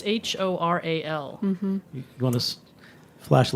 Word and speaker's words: HORAL: Oral, it's Horal.